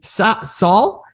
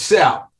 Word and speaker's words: Sal: We have now Saul is how I would pronounce it. Am I saying that right? It's Sal. Sal. The full name Sal, so Sal. Yep. The reason Sal, your pal.